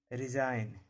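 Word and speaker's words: resign: जब किसी वर्ड में जी के बाद एन लगा रहे। जब भी जी के बाद एन रहेगा, जब भी जी के बाद एन रहेगा, जी साइलेंट रहेगा। रिजाइन, डिजाइन, नोम, साइन।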